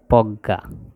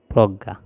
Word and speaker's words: প্রজ্ঞা: বিজ্ঞ আর এটা হচ্ছে প্রজ্ঞা এই জিনিসগুলো আমরা উচ্চারণের সাথে বানানের মিল খুঁজে পাওয়া যাবে না কিন্তু এগুলো আমাদেরকে এই মুখস্ত করতে হবে দেখে দেখে বুঝতে হবে যে এইগুলোর উচ্চারণ এরকম হবে যেমন জ্ঞান বিজ্ঞান অজ্ঞ